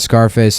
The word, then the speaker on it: Scarface: I was laughing about Scarface. I like to pronounce the name of that movie like you would the word surface.